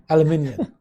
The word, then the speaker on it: aluminium: How do you say aluminium? Aluminium. Yeah, right? Aluminum. exactly. And the Americans say aluminum.